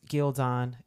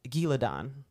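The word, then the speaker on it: Ghealdan: In the original audiobooks, in the beginning of the book, they pronounce Gildan, Giladon. And then later on, they self-correct, I guess.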